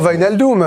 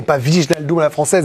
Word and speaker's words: Wijnaldum: On est sur Wijnaldum. J'essaie de le prononcer de la meilleure des façons. M'a-t-on dit du côté néerlandais et pas Wijnaldum à la française.